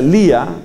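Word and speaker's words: Leah: Hay una mujer de nombre Lea, creo que se pronuncia Lía, L-E-A-H.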